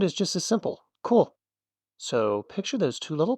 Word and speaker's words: こ: Cool.